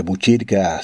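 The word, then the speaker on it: Botkyrka: Este nombre de Buchirca, si se escribe en sueco, se escribe con una K y una Y. O sea, usted diría radiobotkirka.se y Radio Botkirka, Radio Buchirca como se leería, o Radio Buchirca como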